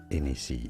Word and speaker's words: Hennessy: Hennessy in French, the H is silent, although this is a name of Irish origin, so you could say it as Hennessy, it'd be fine as well.